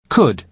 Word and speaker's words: could: listen to the pronunciation could could you spell it c-o-u-l-d but the letter l is silent good now listen to